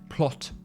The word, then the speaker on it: Plath: Sylvia Plath's name is German, and I think her father would have pronounced it plot before he emigrated and changed it to the Plath that it became in the States.